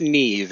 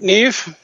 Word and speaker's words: Niamh: I'm I quite confess I don't quite understand Irish spelling conventions because it's spelled n m n a MH but it's pronounced Neeve isn't it Neeve that's right good well